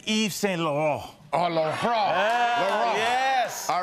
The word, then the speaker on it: Laurent: Did I pronounce that right, Al? Yes, it's Yves Saint Laurent.